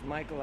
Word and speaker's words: Mikole: now that my name's Michael I don't know what to tell you no I when I see the spelling it's m-i-k-o-l-e I love it it works phonetically right that's perfectly correct right